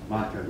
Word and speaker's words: Monkin: Work in the Earhart Monkin. Am I saying your last name properly? Monkin, yes. Yes.